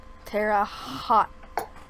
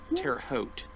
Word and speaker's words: Terre Haute: is Indiana yeah look they mispronounced my town name in it poor they tear up hot Tara home Tara hot Terre Haute anyway um my history